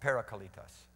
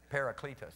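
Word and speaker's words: παράκλητος: And parakaleon is really how we mostly understand the parakaletos, which most people call parakaletos, right? That's how most people say it. It's just the way Americans say parakaletos. Parakletos, or however they say it.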